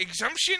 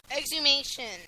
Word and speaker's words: exhumation: guess you would say the exhumption, is that how you would pronounce it? Yeah. Exhumation. Yeah.